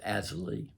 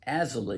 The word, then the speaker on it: Azalea: But not as bad as I thought they would be, and that was because of Azalee. That name is pronounced Azalee, even though it's spelled A-Z-A-L-E-A, like azalea.